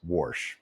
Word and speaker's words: Warsh: new Fed chair, Kevin Warsh. Phonetically, that's Warsh, just like that.